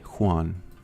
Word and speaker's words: Juan: Juan. I would have never guessed that it's pronounced with the H in front, like in Harry, because, you know, very often.